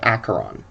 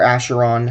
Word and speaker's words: Acheron: the infernal battlefield of acheron or asheron however you want to pronounce it i'm not going to judge you i just google told me it was acheron they are creatures of